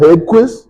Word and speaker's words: Hedquist: So, that being said, um my guest today is Kyle Headquist.